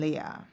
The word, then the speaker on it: Leah: at a time when Leah had or le as my father said it's pronounced in Hebrew Le had begun to